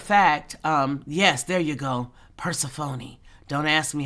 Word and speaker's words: Persephone: Persephone. Don't ask me how to spell it.